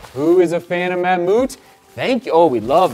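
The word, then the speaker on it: Mammut: it's a rain slash a windbreaker basically there's manmoot that's how you spell it m-a-m-m-u-t there on the back who is a fan of mammoot thank you oh we love the colorway of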